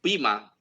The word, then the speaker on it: Poema: So para Scotty, definitivamente Poema por su Pima. Pima is the pronunciation, it's a Greek word.